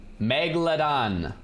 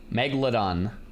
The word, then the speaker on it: megalodon: Megalodon. There's no mega. It's not mega. Megalodon. Cuz I was saying mega and everyone.